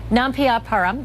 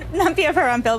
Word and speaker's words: Nampiaparampil: Devi Nampiaparam, did I say it right? Nampiaparam? Nampiaparampil, but close enough. Nampiaparampil, I missed one, I'm sorry.